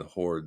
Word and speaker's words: HODL: I think most people pronounce that one Horde, the project that you're talking about.